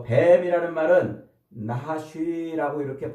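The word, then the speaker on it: נחש: 아니라 하나님의 피조물이란 말이에요 자요 어 뱀이라는 말은 나하쉬 아고 이렇게 발음을 해요 나하쉬 히브리어로 요게 이제 어원은 명확하지 않아요 그런데어요 나하시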